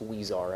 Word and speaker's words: Huizar: this matter is and I believe the last name is pronounced wear and I stand willing